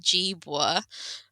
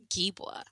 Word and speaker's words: Gibwa: spelled how it says so it's jwa um with a it's like a j instead of a G oh did I what did I say Gea I sure G I